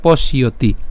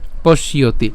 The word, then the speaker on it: পশ্যতি: এরপর পশ্যতি, কেন পশ্যতি, এখানে খেয়াল করুন প তালব্য পর্যন্ত যদি আমরা উচ্চারণ করি, এখানে যে জফলা আছে আমরা ইতিমধ্যে জেনে গেছি যে জফলা উচ্চারণ কার মতো হবে, ইয়র মতো হবে। এবং ইয়র সাথে কি উচ্চারণ হচ্ছে, তি উচ্চারণ হচ্ছে, ঠিক আছে। তাহলে আমরা উচ্চারণ যদি এটা করি তাহলে পশ্যতি, পশ্যতি, আর একসাথে উচ্চারণ করলে পশ্যতি, ঠিক আছে।